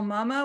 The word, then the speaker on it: Mama: I'm Mama, which rhymes with Lalama, and I use she, her pronouns.